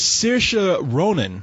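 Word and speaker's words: Saoirse Ronan: yeah her name is CA Ronin I I I'm assuming it's Celtic or something it is she's she's Irish cuz their pronunciations are very strange I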